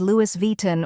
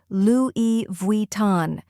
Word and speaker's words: Louis Vuitton: the correct pronunciation is Loui Von Louie is pronounced l e remember the S is silent in French vuon is pronounced Von